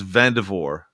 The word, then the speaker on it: Vandervoort: little confused is it's vavor vavor yes yes the T the r the r is silent and the t is silent the first R is silent and the the final T is silent yes I knew I